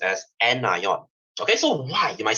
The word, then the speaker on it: anion: as cat ion and this negative part is pronounced as anion okay so why you might say sir i